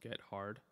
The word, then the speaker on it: Gethard: of it himself because it's spelled Get Hard, his last name, but it's pronounced Gethard.